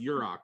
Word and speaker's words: Yurok: yeah, it's pronounced Yurok, right?